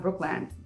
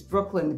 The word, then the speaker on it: Brookland: on the list is brooklyn i think that's how it's pronounced not brookland but it's brooklyn but not brooklyn like in new york brooklyn i love this area